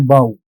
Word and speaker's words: bow: It actually rhymes with so.